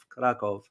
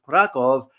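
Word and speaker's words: Kraków: As a matter of fact, a lot of people do not know the history of Krakow, or Krakow as it's pronounced, but it's spelled with the V, Krakow.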